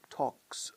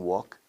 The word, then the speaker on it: talk: Inés usually talks a lot. La L en talk, igual que en walk, es muda.